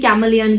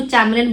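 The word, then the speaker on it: chameleon: बहुत ही अच्छी लिखी कैमलियन की। इसको आप कैमलियन ही पढ़ते हैं वैसे, इसको हम लोग, कुछ लोग इसको चैमलियन बोलते हैं, लेकिन चैमलियन इज the wrong pronunciation of this word, it's कैमलियन।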